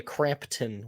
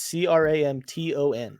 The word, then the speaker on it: Cramton: There's no P though. It's Cramton, Crampton Bowl. Oh, Crampton. God. But when you say it like that, it's almost like there's a silent P.